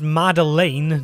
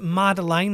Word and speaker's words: Madeleine: skilled musician Sandra Kerr, who voices Madeleine, not Madeline as I called her earlier when I experienced the technical difficulty of being an idiot.